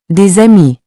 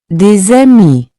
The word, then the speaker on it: des amis: Des amis. Here, the S becomes a Z sound. Let's say it together. Des amis. Des amis.